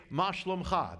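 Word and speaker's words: מה שלומך: You say, "Ma shalomcha." That's how you say it in Israel.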